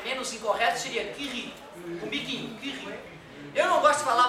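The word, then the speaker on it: Curie: A Maria Kiri, eu chamava de Maria Curry, né? Que é em manes a o com a pronúncia correta ou melhor, né? Menos incorreto seria que riquinho que ri.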